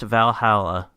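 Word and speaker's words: VA-11 Hall-A: who is looking to by the game it's pronounced Valhalla but the game is it's spelled uniquely it's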